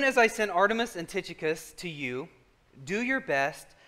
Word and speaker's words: Tychicus: my son this uh titicus that's actually how you say it i know and